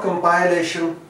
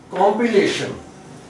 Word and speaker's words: compilation: Tribune, and this word is compilation, not compilation. This is compilation. Compilation. And mind it, most of the times where we have A-T-I-O-N, wherever this combination of letter occurs, so it mostly takes